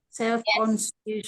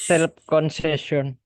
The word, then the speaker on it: self-conscious: Nah, cius ini sekalian diucapkan. She's. Yes. Conscious. Self-conscious. Self-conscious. Self-conscious. Yes, self-conscious ya. Self-conscious. Jadi ci-nya nggak bunyi lagi cheers. Langsung aja Cheers. she's.